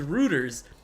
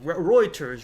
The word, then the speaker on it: Reuters: Is that how you say it? Reuters. I thought it was Roers. Roers. R E U. Maybe I'm I'm saying it wrong. Reuters.